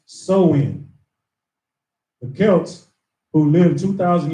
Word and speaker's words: Samhain: to the ancient Celtic festival of Samhain pronounced so in the Celts who lived